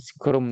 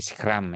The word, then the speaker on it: scrum: Ada peralatan untuk membuat boxing namanya scrom teman-teman ya. Bacanya pasti scrum ya scrum.